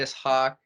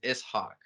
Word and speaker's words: Ishak: Ishak. That's how it's pronounced in Arabic, though, is Ishak.